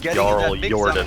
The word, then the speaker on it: JarlJordan: gonna do the it is actually pronounced JarlJordan.